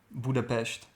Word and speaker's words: Budapest: we're in Hungary we're in Budapest right now Budapest that's how you pronounce them really you didn't say Budapest no